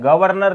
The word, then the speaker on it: गवर्नर: उच्चारण करके देखो, ऊपर लगने वाला रे का उच्चारण पहले होता है।